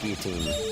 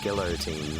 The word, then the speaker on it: guillotine: And there's my fun fact that its pronunciation is uh is guillotine, not in French. It's guillotine, not guillotine like people say.